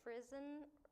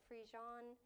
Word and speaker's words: frisson: It looks like frisson, or it could be like frijon.